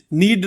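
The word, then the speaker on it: Nedd: मगर दूसरा है अशमेद नेड, नीड नहीं नेड, सॉरी मैंने गलत स्पेलिंग डाल दिया यहां पे।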